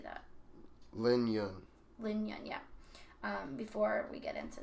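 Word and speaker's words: Jun Lin: Lin Yun, yeah.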